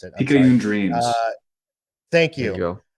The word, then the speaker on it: Picayune Dreams: Taxi Go Vroom, Children of the Sun, Balatro, Pecan Dream or Picaya Dream. I can't pronounce it. I'm sorry. Picayune Dreams.